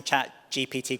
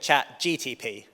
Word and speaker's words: ChatGPT: In fact, there's a stage before that between you and me, and that's actually pronouncing ChatGPT correctly. Half of my family still call it ChatGTP, but that's another story.